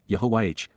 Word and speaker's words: Yahowah: Yahowah, Yahowah, God's personal and proper name, pronounced, Yahowah, based upon Haya, to exist, examines the genuineness, Bakon,